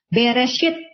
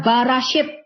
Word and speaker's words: Bereshit: Ya, misalnya Bereshit, ya, tidak dibaca Barashit. Ya, karena ini membuat arti yang berbeda. Ya, Bereshit, Barashit berbeda.